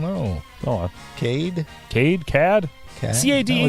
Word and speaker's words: Cade: C-A-D-E.